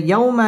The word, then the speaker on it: يوم: يكون الناس كالفراش المبثوث ইয়াও জবরের বাম পাশে জজম ওয়ালা ওয়াও লিনের হরফ তাড়াতাড়ি পড়তে হবে ওয়াও ঠোঁট গোল করে উচ্চারণ করতে হবে ইয়াউমা ইয়াকু মদ তাবাই পেশের